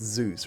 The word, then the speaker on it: Zeus: at zeus he's called he's pronounced zeus right like the greek god the new top laner for 21.